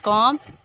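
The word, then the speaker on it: comb: एंड कॉम, इस word कॉम, इसमें बी नहीं होता।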